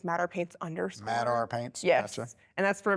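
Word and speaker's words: MadR Paints: Mad Ar Paints. Gotcha. Yes. And that's for Madison Ramy Paint. M A D R Paints. Yes. People pronounce it like Mater Paint.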